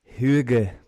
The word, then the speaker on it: hygge: Hygge is really, really correct pronunciation.